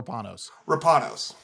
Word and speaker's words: Rapanos: Rapanos case, and I always butcher how to pronounce that. You're going to tell me, is it Rapanos or Rapanos?